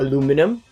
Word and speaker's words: aluminum: Now if you're wondering why this area is not rusted, it's because this is made of aluminium or aluminum, however you want to pronounce it, which is way less susceptible to corrosion.